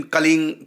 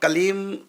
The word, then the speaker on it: क्लीं: तो कलिंग क्यों बोलते हैं? क्योंकि यदि हम कलीम के साथ में कृष्ण जोड़ दें, जैसे कृष्णाय नमः कलीम के साथ जोड़ दिया, तो कलीम के बाद में का आ गया, तो का को जोड़कर बोल रहे, हम अलग अलग शब्दों को नहीं बोल रहे। होता कई बार घसीट बोलते हैं, तो जब अलग अलग शब्द हम बोलेंगे कलीम कृष्णाय नमः, ये तो हो गया कलीम।